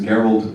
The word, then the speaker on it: Gerald: Gerald, he was Gerald with a hard G.